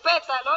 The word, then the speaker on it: pétalo: Es una palabra esdrújula porque su acento está en la antepenúltima sílaba.